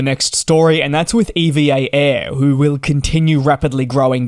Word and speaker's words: EVA Air: without challenges and yes referring to them as EVA Air I know that's technically how you pronounce it I know most of us though will refer to it as Eva so it's going to